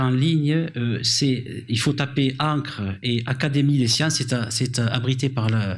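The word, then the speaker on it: ENCCRE: Et ça s'appelle Encre, ça s'écrit E-N-2-C-R-E, c'est l'édition numérique, critique et collaborative de l'encyclopédie. C'est d'ores et déjà en ligne, il faut taper Encre et Académie des sciences, c'est hébergé par l'Académie des sciences.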